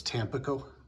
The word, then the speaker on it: Tampico: the Stockyards of Tampico I think I've been pronouncing the town wrong it's Tampico correct okay mm-hmm in 1981